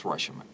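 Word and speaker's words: Rashomon: That's Roshomon. Wow. It's good? It's Yeah, look great at that. movie. The pronunciation's perfect.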